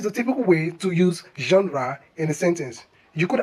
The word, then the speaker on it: genre: Kindly don't say genre, genre, but say genre. This is another French origin word where the G sounds as J, like measure, treasure.